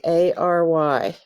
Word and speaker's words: January: a capital j again capital j jan and jan you you hear the u danu where and that sounds like wary sounds like there's a w there but there's not wary january jan you weary okay this one's very